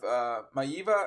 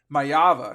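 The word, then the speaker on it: Maiava: I don't know if it was just because of Maiva. Oh, I'm sorry, I said it wrong. I said it wrong the second time there. Mayava, sorry.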